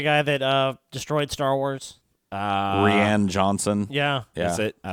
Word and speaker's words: Rian: I think it's just Ryan. Ryan Johnson? Well, it's spelled like Rian.